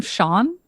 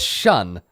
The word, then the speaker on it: Shun: sorry there's a drowning Shawn no his name is shun you're not you're not pronouncing it correctly Shawn sorry well I'm